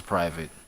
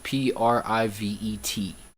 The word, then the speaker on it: privet: I I thought it was private. But you know what, it's spelled p r i v e t, right? Private is what? p r i v a t e? So it's privet, right?